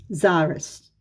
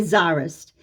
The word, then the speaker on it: Tsarist: The Tsarist regime felt no such compunction. Tsarist, it means Russia. I realize my audience might not be able to. Tsarist. We say Tsarist. It's spelled C-Z-A-R-I-S-T sometimes, and sometimes it's spelled T-S-A-R, Tsar, I-S-T.